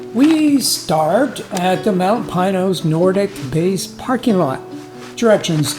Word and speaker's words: Pinos: The Spanish word for pines is pinos. However, the locals call the mountain we're headed for Pinos. Now, I like to defer to however the people around here pronounce a particular name, so I'll be using Pinos in the video, even if it isn't really technically correct.